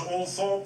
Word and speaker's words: Althorp: Even though she had preferred bright lights and big cities, the rural setting of Althorpe, sometimes pronounced Althorp by the toffs, was thought most appropriate for Diana's last resting place.